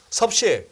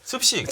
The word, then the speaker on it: 습식: 섭식. 습식. 섭식이 아니고요. 습식. 섭취가 아니고요. 습식. 자, 따라해 보세요. 습식.